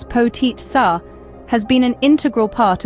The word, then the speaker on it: Potica: Potica, pronounced as potit sa, has been an integral part of Slovenian cuisine for centuries.